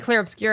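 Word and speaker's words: Clair Obscur: CL obscura Expedition 33c I keep saying clear obscura but it's obscura oh my God no I don't think so it's spelled o s no yeah you're rights but I keep saying clear obscure ads clear obscure clear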